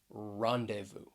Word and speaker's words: rendezvous: at the letter z a silent z which comes in the middle of this word right here rendezvous it has three syllables the stress is on that first syllable rendezvous and if people